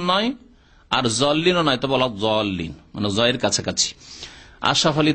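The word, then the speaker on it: الضالين: ওলা দল্লিন নয় আর জল্লিনও নয়, তবে ওলা জল্লিন, মানে জয়ের কাছাকাছি।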